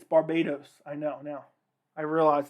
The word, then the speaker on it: Barbados: the other day that i mispronounced uh barbados i said barbados i like sounded it out it's barbados i know now i